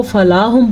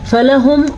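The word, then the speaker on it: فلهم: اگر ہم اس کو فلاہم پڑھیں گے تو ہم نے پڑھا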